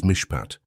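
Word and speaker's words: מִשְׁפָּט: The Hebrew word that defines exactly what is happening to you is mishpat. Pronounce it with me in a low voice wherever you are.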